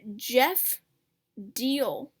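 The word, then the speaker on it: Diehl: and then we have jeff deal that's how you pronounce his name jeff deal running um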